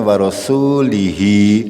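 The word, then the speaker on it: ورسوله: Ya kita bacanya tetap pendek. Warosuli bukan warosuli. Salah nggih. Harus membacanya pendek. Warosuli. Gitu. Kalau mau dibaca terusannya warasulihi, linya tidak panjang. Berarti kalau mau berhenti ya warasulih. Gitu.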